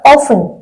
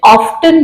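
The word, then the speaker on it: often: अक्सर ऑफ अब देखिए ट्रेडिशनल इंग्लिश में इसको ऑफ बोला जाता है टी साइलेंट था अब मॉडर्न इंग्लिश में ऑफ्टन बोला जाता है तो वो आपकी इच्छा पर डिपेंड करता चाहे आप ऑन बोलो चाहे ऑफ्टन बोलो बोथ आर करेक्ट तो माय वच ऑन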